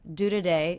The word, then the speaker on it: today: Do today. This is most definitely a schwa, so we're reducing this unstressed syllable to be the schwa.